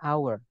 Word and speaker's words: hour: Jam itu kan tulisannya hour, teman-teman. Tapi bacanya hour.